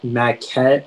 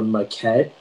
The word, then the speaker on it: maquette: the information yeah so the word is maquette or maquette it's a noun and